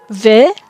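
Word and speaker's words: וְ: Ve means and. Sometimes it's pronounced u.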